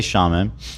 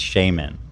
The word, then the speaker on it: shaman: She goes, "Oh, that's not how you say it. It's shaman."